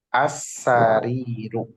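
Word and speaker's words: السرير: Ingat, di situ ada alif lam, berarti nggak boleh dibaca tanwin. Kenapa? Karena selamanya alif lam itu nggak bisa bertemu dengan tanwin. Jadi dibacanya as-sariru.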